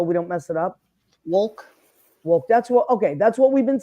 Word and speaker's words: Wolk: how do you pronounce your last name properly so we don't mess it up? Wolk.